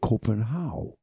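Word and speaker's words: København: Like some people say Copenhagen. People are familiar with it, but in Copenhagen, they don't say that. They say Copenhagen.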